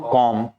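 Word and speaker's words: comb: कॉम।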